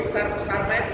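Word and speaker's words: Tschermak: वही सरमैक वही है जो हमने टी से उसको बच्चों को बताने के लिए टी साइलेंट है वहाँ ना, सरमैक वही है, वही TCSCHERMAK।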